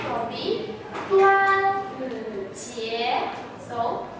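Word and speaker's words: 端午节: It is Dragon Boat Festival, and its Chinese pronunciation will be 端午节.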